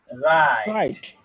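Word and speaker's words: write: ওকে, তো আমি বলি ডাব্লিউ এর পরে এইচ আর থাকলে ডাব্লিউ এর উচ্চারণ হয় না। যেমন রাইট, রং, হু।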